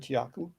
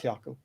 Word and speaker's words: Tiaku: can't even pronounce it i can said tiaku not kyaku barama margaret margaret laughed